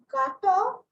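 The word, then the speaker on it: gâteaux: So just gato, but it will remain the same word in pronunciation. In spelling, X is added.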